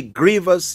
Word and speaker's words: grievous: number 372 he is a victim of a grievous Injustice he is a victim of a grievous Injustice remember Grievous is spelled g-r-i-e-v-o-u-s this means he's a victim of